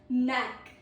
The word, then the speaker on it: knack: Then at last we have knack. NAK. Knack. Meaning is a natural talent or skill. It is a natural talent or skill inside somebody, just like you. A pro tip, K is silent before N.